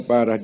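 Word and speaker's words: פרה: P, res, he, parah. Membacanya parah.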